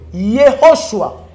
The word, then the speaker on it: Yehoshua: Non, il faut bien prononcer Yehoshua. Aspiration. Ho, Yehoshua.